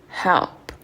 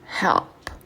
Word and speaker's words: help: Il faut que tu places ta langue, quand tu prononces le L, au lieu de la placer en haut du palais, parce que c'est ça